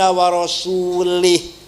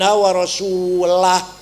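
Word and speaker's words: وَرَسُولُهُ: Bacanya harus wa annallaha bari'um minal musyrikin wa rasulah. Allah tidak melindungi orang musyrik dan Rasulullah pun tidak melindungi orang musyrik. Baca wa rasulah.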